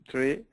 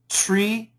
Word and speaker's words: three: three three good good concentrate on the th one more time three three sounds better you can make the th stronger tree three Tre three three